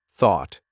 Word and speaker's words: thought: Thought.